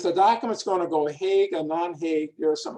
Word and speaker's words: Hague: there was a convention in hague some people pronounce it hog to try to simplify